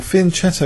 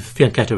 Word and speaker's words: fianchetto: piece by the way Paul Finn cetto is an acceptable pronunciation or pronunciation of faneto isn't it in UK I mean I think faneto is technically more correct everyone calls it fan cetto so yes yes so